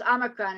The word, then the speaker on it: omicron: make any sense omicron is a um it's pronounced omicron and it is a greek letter and i